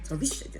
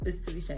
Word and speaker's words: Tarisha: Like, these names you have to say, it has up, down, but you can't be going around going Tarisha Ju like to people. So it's Tarisha anyway.